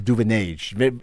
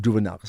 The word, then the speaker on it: Duvenage: Zimbabwe and and is a Duvenage as opposed to Duvenaka spelled exactly the same way clearly, but a very different um tweak to how the name gets pronounced, right?